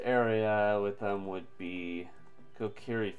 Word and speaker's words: Kokiri: with them would be kokiri forest yes said it right I always say that wrong I always say Korach forest in my mind always oh come on